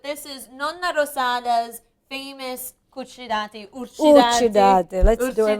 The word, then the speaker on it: cucciddati: Cucciddati, I got to correct you. Cucciddati. In Sicilian dialect, it's cucciddati.